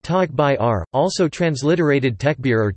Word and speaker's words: Takbir: the takbir takbir pronounced tog by are also transliterated tech beer